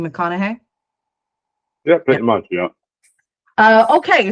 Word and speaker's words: McConaughey: pronounce Charlotte's last name, I said McGonaghy, but I think, Graham, you had a different pronunciation for me. Yeah, with Scotland, it's more like the "ma" is in there. It's like McConaughey, like McConaughey, Charlotte McConaughey, like that. McConaughey? Yeah. McConaughey, kind of like Matthew McConaughey?